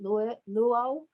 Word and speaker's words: Luyo: in, is, and I hope I pronounce this correctly, Luyo? Yes, From Luyo, yes.